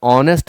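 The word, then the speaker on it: honest: Dash ऑनेस्ट officer, आप जब ऑनेस्ट पढ़ रहे हैं ना तो उच्चारण में पहले अ आ रहा है, इसलिए एन भरिए।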